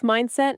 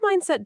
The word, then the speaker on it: mindset: 2 clear syllables, stress on the first, not mindset.